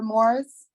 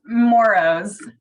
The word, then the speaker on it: Moros: right next number remember Moore's I'm sorry if I pronounced it wrong it's moro's but it's okay I